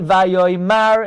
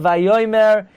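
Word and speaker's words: וַיֹּאמֶר: If a Bal Koire would dare say Vayoymar instead of Vayoymer, he would be strangled to the floor.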